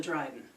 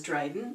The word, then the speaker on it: Dryghten: pronunciations to it too i in my first circle learned it as dryden so dryden is what it is to me so what is this